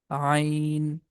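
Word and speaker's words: عين: Also, we can say Zain, that is Seen, Sheen, Sod, Dod, Ta, and that is Dha, Ain, Ghain. Letter Ain comes from the middle of the throat, and letter Ghain comes from the beginning of the throat.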